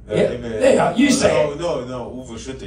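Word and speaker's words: Uwe Schütte: How do you say his name? Emil Schutt? Uwe Schutte, you mean. Uwe Schutte, Uwe Schutte. He's written a book. Uwe Schutte is how we say it.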